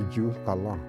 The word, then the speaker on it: Juthcullah: Cherokee, the word is pronounced Juhkala.